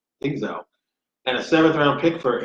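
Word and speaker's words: Dzingel: They got Ryan, how do you pronounce it? Dingzel? Dingzel.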